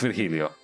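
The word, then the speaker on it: Virgilio: for all i care no i'm pretty sure it's vergilio you sound as much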